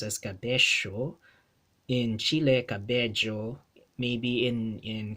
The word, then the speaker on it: cabello: Whenever two L's are spelled side by side in a Spanish word in the Philippine Spanish dialect, they get pronounced as a li. Cabello, cabello, cabello, or bella, bella, right?